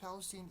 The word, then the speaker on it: East Palestine: disaster, a train derailment in the town of East Palestine, pronounced Palestine, East Palestine, Ohio, a small town of about 5,000 people, kind of near the Pennsylvania border.